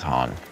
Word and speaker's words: Han: Anything h it's Han, but that's okay. This attempt to reccon Billy D. William's odd pronunciation of the name the original trilogy makes me super angry.